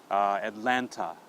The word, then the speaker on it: Atlanta: Atlanta. Okay, so when you see the A at Atlanta, we pronounce it.